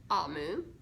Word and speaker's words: Omu: says note to reader amu pronounced amu is the igbo term for queen evo is a language